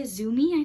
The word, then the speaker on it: TZUMI: It's by the brand TZUMI, Zumi, I think it's pronounced.